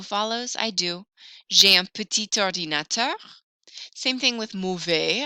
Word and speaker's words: petit: Talking about computers, ordinateur, j'ai un petit ordinateur. Petit, I don't usually hear the final T, but when that O follows, I do. J'ai un petit ordinateur.